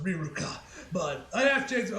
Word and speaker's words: Riruka: So I don't know, and it looks like in the Japanese as well it's also pronounced Riruka.